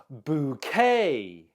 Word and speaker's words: bouquet: you say this word bouquet bouquet the stress is on the second syllable bouquet a bouquet of